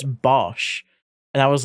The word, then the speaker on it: Bosch: But yeah, because when I was streaming with with Bosch once, um, he started correcting people saying, "You're saying bash. It's not. It's Bosch."